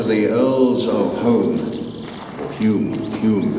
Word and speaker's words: Home: Dunglass originally belonged to the Earls of Home, or Hume. They call their surname Hume, but it's pronounced Earls of Home.